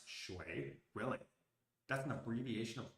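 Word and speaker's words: 水: The left side of the character, the three short strokes in an abbreviation of a character, which means water, is pronounced shui.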